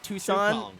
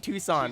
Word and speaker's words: Tucson: comes to I was gonna say the wrong pronunciation of it but I'm not gonna trigger you and I can't remember how to Tucson Tucson right okay Tucson like every time a band